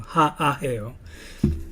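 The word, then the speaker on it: haʻaheo: And what it does is it's a guttural sound that you place where you see it. So instead of saying ha'aheo, you would say ha'aheo. You put a guttural sound in the middle, ha'aheo.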